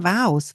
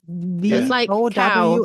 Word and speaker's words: vow: V O W because if we pronounce it, it's not easy to vow. V O W S cow. Yeah, vow. It's the same as a cow.